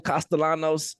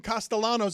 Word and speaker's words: Castellanos: Yeah, because the double L, you have to roll it if you're Hispanic.